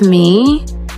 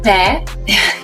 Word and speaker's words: Meghan: I feel like the focus is starting to shift off of me. Maybe in editing you'll fix it. People were saying, meh. It's not meh. It's pronounced me. The H is silent.